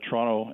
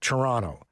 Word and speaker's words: Toronto: a little bit it's toronto but if you're outside of canada or maybe even outside of toronto you pronounce the second t it's just for whatever